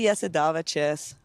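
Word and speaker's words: Jasudavicius: So, you know, for those of you that are pronouncing it wrong or ever have pronounced it wrong, this is for you. It's actually Yesidavaches, but so bro, you are wicked with that soundboard.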